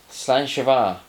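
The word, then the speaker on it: slàinte mhath: let me get the i've got to pronounce this right otherwise i'm in real trouble and the spelling which will stick up here is nothing like what it sounds to us uneducated english people slan chavar so english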